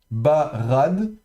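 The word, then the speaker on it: בָּרָד: Et là, justement, on voit bien la différence ici entre le rche et le dalet en fin de mot. Donc, barade, barade.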